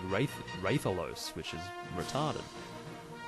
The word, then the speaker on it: Rathalos: few letters so yeah it would be ridiculous to say Rathalos if you're gonna say Wraith Ian but if you are